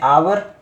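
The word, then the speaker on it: hour: तो क्या लगाएंगे ए इसमें एच साइलेंट रहता है बच्चों इसको हम पढ़ सकते हैं आवर और आवर में पहला जो साउंड है वो आ का है जो कि कौन सा साउंड है वोल साउंड है और वोल साउंड में हम क्या लगाएंगे एन लगाएंगे यह आपको अभी देखने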